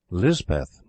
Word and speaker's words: Lispeth: The Cotgarth chaplain christened her Elizabeth, and Lispeth is the hill or Pahari pronunciation.